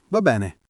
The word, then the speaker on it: va bene: Va bene. Pronuncia semplice, va bene con la e aperta in tutte e due le parole. Va bene, non v. La B è marcata, la na singola veloce.